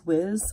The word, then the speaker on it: Whis: i have myself obese how do you pronounce it whis whiz it kind of is they kind of say in a few different ways on the show but in any case